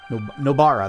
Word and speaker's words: Nobara: and the other one, nobara, that was it. Nobara, that's how you say it.